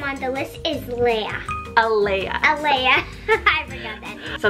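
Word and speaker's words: Alaia: the next name on the list is leah eleah elea i forgot that so that's spelled elea a l a i a this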